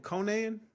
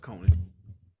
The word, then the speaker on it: Conan: you call that man Conan Conan O'Brien yeah why you got to pronounce it like that it's just Conan well because he said